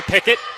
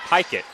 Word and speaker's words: Pickett: Feed inside, goes to Pickett, and she banks it in. So it's actually pronounced Pikett.